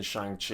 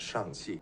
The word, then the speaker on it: Shang-Chi: Shang-Chi. Shang-Chi. Shang-Chi. Shang-Chi. Shang. S-H-A-N-G. Shang. Shang. Yeah. Here, Simu puts emphasis on the at the end of Shang to help Aquafina pronounce it correctly.